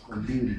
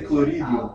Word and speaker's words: colírio: I always forget how to pronounce colírio. Colírio. Yeah, I always say clorídeo.